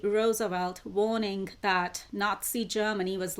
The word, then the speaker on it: Roosevelt: you pronounce that right I've checked the audio pronunciation for that name too it's Roosevelt so in 1939 Einstein and physicist Leo zelot